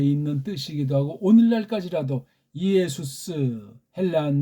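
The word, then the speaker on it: Ἰησοῦς: 이게 헬렌 말로는 이예수스지 않습니까? 이예수스. 한국은 이걸 그냥 예수 하니까 아무런 생각 없이 정확한 발음도 모르는 채로 헬라어를 해도 마찬가지예요.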